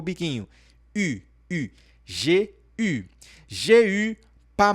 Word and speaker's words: eu: Quando você fala j'ai eu, significa eu tive. J'ai eu. Então, a pronúncia desse carinha aqui não é eu, e sim u.